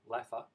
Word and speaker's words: LAFHA: away from home allowance or lfha sometimes pronounced laugher to an employee who